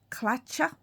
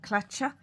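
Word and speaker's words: Tlachtga: In Irish, it's spelt strangely, as always, pronounced Clacha, I believe.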